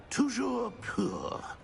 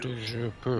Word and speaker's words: Toujours pur: Toujours pur. Ha! Thank you. Toujours pur.